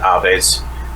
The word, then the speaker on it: Aves: I pronounce it Aves. The basis of the origin of that is Aves is the Latin root word for birds, the whole avian species.